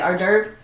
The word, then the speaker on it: hors d'oeuvre: Did you know it's spelled really like crazy? It does not look like the way it sounds.